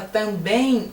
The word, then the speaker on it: também: Na verdade, quando você fala também, esse M corresponde à letra I. Nossa, mas esse realmente é fenomenal. Este é um caso muito diferente em português. O EM corresponder a EI. Você fala também, você não fala também. Então não aparece o M, mas aparece um som do I, fala a verdade. Tem um I aí, escondidinho, mas tem.